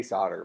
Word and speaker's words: solder: Isn't that like a weird way to spell it? Like we say solder, but it's spelled like that.